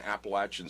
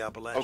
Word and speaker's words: Appalachian: Some people say Appalachian, but around here we say Appalachian. Okay, you got to correct me. You know, I'm open to. I'm in a church where we correct each other. So you correct me if I say it wrong. But the college students go to Appalachian State University, not Appalachian. Not okay, Appalachian.